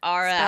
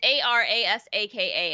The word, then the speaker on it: Arasaka: Araska. Spell it? How do I say? Aristocrat? Spell it. No. It's, I keep fucking this up. It's Arasaka, and there's like 13 different ways you can pronounce it.